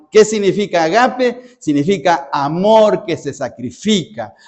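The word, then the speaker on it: ἀγάπη: Esa esa palabra se pronuncia en griego agape. ¿Qué significa agape?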